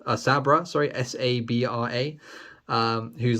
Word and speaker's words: Sabra: Hulk 256 first appearance of I think it's pronounced saber a Sabra sorry s-a-b-r-a um who's like an Israeli mutant